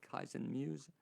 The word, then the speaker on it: Kaizen Muse: She's a certified Kaizen Muse. Am I pronouncing that right?